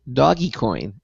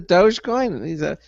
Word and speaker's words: Dogecoin: for mining cryptocurrency and even he pronounced it doggy coin which i was quickly to point out so i said isn't the dogecoin you didn't know how